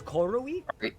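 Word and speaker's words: KOORUI: It's But it Yeah, it's Corui. Yeah, it's pronounced Yeah.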